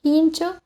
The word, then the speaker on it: fincho: Ejemplo de ello se encuentra en palabras como fincho, que se pronuncia como hincho, y fablar, pronunciado como hablar.